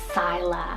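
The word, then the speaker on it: Cyla: All right, so we have another C name here for the girl side, and this is the name Scylla, spelled C-Y-L-A, Scylla.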